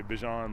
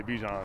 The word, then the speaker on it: Bijan: So if you guys want to say Bijan, like, go ahead. But if you guys want to say Bijan, I mean, I'm cool with that too.